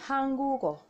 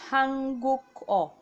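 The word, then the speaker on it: 한국어: So now this next one is Hangugo. Hangugo, but naturally you want to pronounce it Hanguk-o. Hanguk-o. That's not the right pronunciation.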